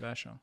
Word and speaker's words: Vachon: You don't pronounce the H. Hubert Vachon.